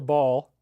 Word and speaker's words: Baal: That's called the arch of Baal or Ball. You can pronounce it either way. You're not losing either way.